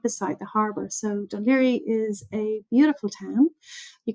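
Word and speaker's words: Dún Laoghaire: So it's Dun Laoghaire is how everybody pronounces it.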